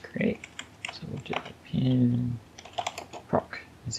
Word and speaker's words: proc: we need to create so we'll do pin proc is how you say it's a function uh